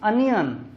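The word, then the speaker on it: onion: और इसी तरह एक वर्ड मैंने और था, इसको ओनियन आमतौर पर पढ़ा जाता है, इट इज अनियन।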